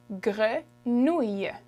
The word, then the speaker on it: grenouille: Grenouille. Grenouille. So the spelling looks tough because there's a lot of letters in it, but there's actually not that many sounds coming out, okay? So grenouille.